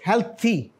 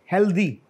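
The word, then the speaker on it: healthy: एंड व्ट इस this हेल्थी क्या है हा अच्छा जी हेल्थी नॉट हेल्दी म हेल्थ को हम सही बोल देते हैं लेकिन हेल्थी पर थोड़ा गड़बड़ कर जाते हैं आगे क्या नस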